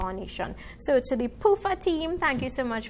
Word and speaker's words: PUFA: Is it PUFA? Yes, PUFA for sure.